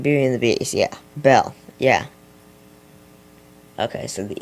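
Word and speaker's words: Belle: Bell. Yeah. Okay. So, the E is silent. Uh, be prepared. What? The E at the end is silent.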